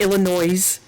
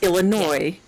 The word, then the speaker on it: Illinois: Just like it's not Illinois, it's Illinois. The S is silent at the end.